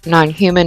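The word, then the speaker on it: NNHMN: I was writing somebody and they're like, "It's just nonhuman without the vowels."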